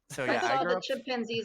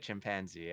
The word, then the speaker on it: chimpanzee: at the zoo i i grew up saying it chimpanzee i think because that's how i was saying it and someone was like that's not the right accent and if you like look it up in a dictionary i think chimpanzee is like the recommended the one that comes first um so i was